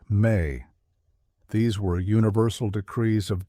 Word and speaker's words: me: A key concept in Mesopotamian cosmology was the idea of me pronounced may.